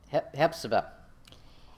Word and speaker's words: Hephzibah: Hephzibah.